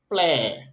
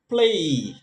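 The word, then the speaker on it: play: তারপর আমরা এটাকে বলি প্লে, প্লে না, এটাকে বলতে হবে প্লেই, প্লেই, এই ওয়াই আছে সেই জন্য।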